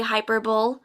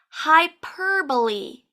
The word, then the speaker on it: hyperbole: model looks like our 10th difficult word to pronounce in English is h y p e r b o l e did you say hyperbole it looks like it should say hyperbole but it's actually pronounced hyperbole hyperbole hyperbole let's say that again together hyperbole